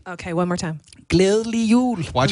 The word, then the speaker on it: Glædelig jul: Glædelig jul. Okay, one more time. Glædelig jul.